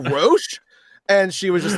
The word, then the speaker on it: Roche: She was like Roche, and I'm just like, oh, Roche.